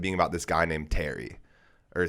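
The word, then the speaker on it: Thierry: It ends up being about this guy named Terry, or Thery. That's like how you pronounce his name.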